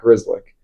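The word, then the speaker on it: Grzelcyk: Um, like for example, last year the Penguins had a defenseman named Matt Grizzlick on my list, his name is spelled G R Z Y L E C.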